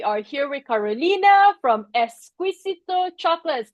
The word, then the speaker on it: Exquisito: We are here with Karolina from Esquisito Chocolates. Tell me if I'm saying it correctly, Carolina. Close. Essicito Chocolates. Oh, I I gotta roll that a little bit.